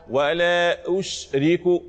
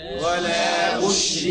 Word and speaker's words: ولا أشرك: قل إنما أدعو ربي ولا أشرك الشين اللي فيها شنشنة هي التفشي اللي في الشين انتشار الهواء الريح اللي في الفم اهو. ولا أشرك اسمعها تنطق ازاي ها. ولا أشرك مرة ثانية.